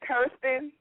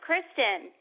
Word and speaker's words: Kristen: Is it Kirsten? No, it's Kristen.